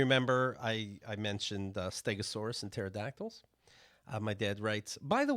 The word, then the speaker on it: pterodactyl: because Pterodactyl, right, yes. because the P is silent.